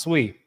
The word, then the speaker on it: SUI: Yeah, that's how it's pronounced. Sweet.